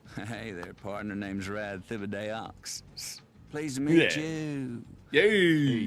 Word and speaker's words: Thibodeaux: Oh, this is Rad Thibodeaux. You would think that it's pronounced Thibodeau, but it's not. Hey there, partner. Name's Rad Thibodeaux.